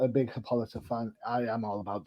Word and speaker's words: Hippolyta: I have been a little bit lapse when Hippolyta came into the book, because I'm not a big Hippolyta fan. I am all about Diana. Sue me. Hippolyta. What? Hippolyta.